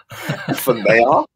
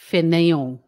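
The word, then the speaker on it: fainéant: It's French, so it's F-A-I-N, yeah. E with an accent, mm-hmm. A-N-T, fanayong.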